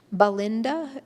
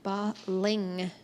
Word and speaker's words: Balingta: Just a quick pronunciation note: Balinda is actually Balingta. If you can see it in the Tibetan, it's spelled with an I-N-G, so L-I-N-G-T-A. But it kind of sounds like Belinda as you're going fast, but it's actually Balingta Kahi.